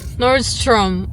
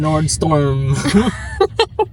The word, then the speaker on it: Nordstrom: Ang hirap niya pronounce. Nordstorm. Kada pinopronounce ko siya, inaasar ako ni Ronel. Nordstrom. Nordstorm daw. Nordstrom. Basta yon yung pipick upan namin mamaya. Papakita ko na lang sa inyo. Hirap-hirap kaya bigkasin. Kayo kaya magbigkas, mahirap din.